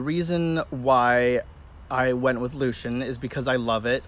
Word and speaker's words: Lucien: on the name Luke and the version I spell it is Luc ia n which is the Latin variation if you are